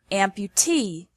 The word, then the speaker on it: amputee: vicinity finally we have some suffixes that take the stress on the suffix itself for example the verb amputate and the noun amputee meaning a person who